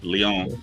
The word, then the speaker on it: Leon: Is that how you say it? Did I get it right? Yeah. Leon, yeah. Leon. I believe so. Yes, say Leon.